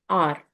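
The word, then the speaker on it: hour: Let's talk about the word R.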